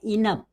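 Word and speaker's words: enough: हम यहाँ पे GH को फा का यूज कर रहे हैं।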